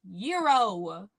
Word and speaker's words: gyro: It's not a gyro either. The G is silent. It's a Greek word. Well, welcome to America. The alcohol where people can't goddamn read. I bet you look at the name Penelope and say, is Penelope here? What do you say? How do you pronounce gyro again? Euro. Euro. Like the currency, euro. Like hero, but euro. Yes, euro.